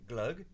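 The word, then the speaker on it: Gløgg: Glug.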